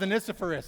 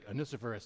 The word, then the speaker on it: Onesiphorus: may the Lord bless, who's got the pronunciation out there, huh? Onesiphorus. All right, we're going with Onesiphorus. I checked it in the Greek. It was Onesiphorus. So that's what we're going with.